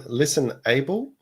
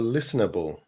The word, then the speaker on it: ListenAble: Is this one listenable or listenable? Wow. That is the question. Yes, because the podcast is listen and able is in uppercase. So the emphasis is on able.